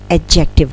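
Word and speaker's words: adjective: यह एडजेक्टिव नहीं है समटाइम इसको ना बहुत सारे लोग एडजेक्टिव प्रोनाउंस करते हैं this is एडजेक्टिव D silent यहां पर नेक्स्ट वर्ड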